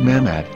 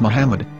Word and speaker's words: Muhammad: yehuda's Hebrew English dictionary it is correctly pronounced as Muhammad not mammad so how we're going to know for sure if it's pronounced as Muhammad the Muslim Prophet or